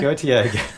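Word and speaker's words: Gotye: Gautier. Sounds like a it's spelled really weird.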